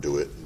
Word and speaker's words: DeWitt: versus the town of DeWitt? DeWitt? Yeah. Am I pronouncing that right? DeWitt. DeWitt? I believe that's how it's pronounced, correct? DeWitt, yeah. Okay.